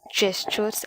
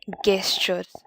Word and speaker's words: gestures: first get it clear the pronunciation is always gestures and not guestures many people have the